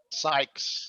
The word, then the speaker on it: Sykes: doctor dr nichols another one and how we pronounce it sykes sykes yes the guy from security okay now we